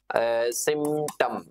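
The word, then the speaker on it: symptom: तक लिख लेना बेटा एक आता है सिमम सिमम सिटम ठीक है प साइलेंट होता है एक होता है साइन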